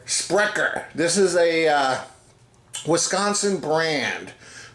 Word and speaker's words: Sprecher: How do we pronounce this, Kyle? Sprecher. Sprecher.